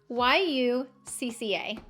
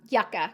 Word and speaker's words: Yucca: Hey Google, how do I pronounce Y-U-C-C-A? That's pronounced yucca. Yucca.